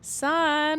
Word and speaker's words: Sughn: So, um, right now we're just doing a promo run for my new project, It's Pronounced Sun.